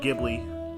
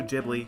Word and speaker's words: Ghibli: good it's too good man ghibli yeah it's pronounced ghibli not ghibli you idiot uh it's it's bounced with a